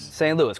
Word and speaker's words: St. Louis: St. Louis, correct.